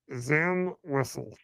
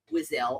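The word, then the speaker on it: Zam Wesell: Zam Wessel. Yeah, you and most everybody else. And you're right. A few people have pronounced it Wizel.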